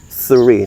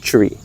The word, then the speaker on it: three: Right, three. Not tree. They're different, right?